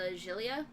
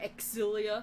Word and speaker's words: Xillia: Porange is actually a reference to, I want to say it was Tales of Xillia, or Exilia, how some people pronounce it, which just sounds wrong to me.